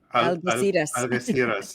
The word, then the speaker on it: Algeciras: I can't pronounce this. Algeciras, yes.